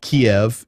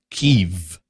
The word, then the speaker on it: Kyiv: And it's not Kiev, it's Kyiv.